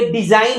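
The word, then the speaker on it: design: ये डिजाइन है, तो डिजाइन की अगर हम बात करते हैं तो यहाँ जी साइलेंट है, नहीं तो जी का अर्थ निकल के आता है, जी का ग निकल करके आपका सामने आता है।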